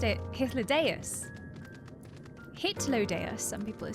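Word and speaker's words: Hythlodaeus: It's pronounced hithus.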